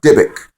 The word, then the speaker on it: dybbuk: uh in hebrew you have what's called a dybbuk okay it's spelled d-y-b-u-k-k all right pronounce a dybbuk okay and all angels seek to uh incarnate